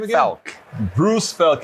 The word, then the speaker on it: Fealk: Fealk.